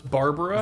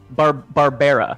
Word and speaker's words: Barbera: So it's Barbara? So he is Barbera, like Hanna-Barbera.